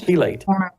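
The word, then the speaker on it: chelate: It's chilate.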